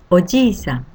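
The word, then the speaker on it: おじいさん: Second character G with the same vowel sound E is pronounced as long vowel sound like G. If you read as they are in hiragana spelling, it would be G-E, but we pronounce it as G.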